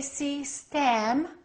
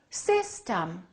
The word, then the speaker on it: system: e are totally different we don't say cem we say system the first syllable is stressed the second syllable is reduced so if I take my rubber band system two syllables watch system system system this e becomes this